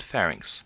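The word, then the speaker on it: pharynx: luckily not very frequently you pronce ounce these larynx and FNX please do not ever pronounce this larx and even worse this fix there's not a reason in the universe why this should be pronounced larx some muscles describe shape trapezius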